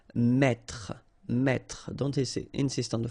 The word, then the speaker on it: mettre: That's the reason why you will pronounce mettre, mettre.